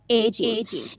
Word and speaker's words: aging: It is a mark of এজিং হবে, এটা জ উচ্চারণ হবে। aging.